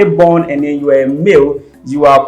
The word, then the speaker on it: Ama: So for both Ashanti and Fanti, it's pronounced Ama. Amma. Ama. Yes, but the spelling for Fanti is different. There's a B somewhere. Yeah. And then the Ashanti is also different. But then it's pronounced the same as Ama.